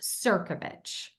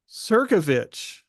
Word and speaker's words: Crnkovich: Verity Seeker, and our guest today is Crnkovich. Did I pronounce that correctly? You didn't, but you're in the majority, Mark. It's actually pronounced Crnkovich. Crnkovich.